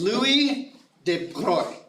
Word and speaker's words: Louis de Broglie: This is Louis de Broglie, and I pronounced that correctly.